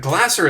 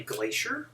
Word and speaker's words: Glasser: Why wouldn't Glasser is an easy one. Everyone calls me Glacier?